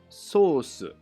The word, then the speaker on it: ソース: finally in japanese it's sosu oh the japanese pronunciation sounds like sauce yes it's the same